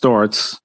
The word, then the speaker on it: Sztorc: There's a Paul Sports because it actually the C is pronounced Sztorc. The Polish C is a different letter, so people called me